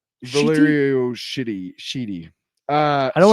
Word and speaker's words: Valerio: Number 12 by Chip Sedarski and Valero. Shitty. Valerio.